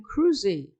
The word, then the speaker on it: Kruse: My name is Cruzy.